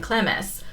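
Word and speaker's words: Clemes: that was cemus and clemis which I had always pronounced Clems and clms but apparently it is two syllables so I learned that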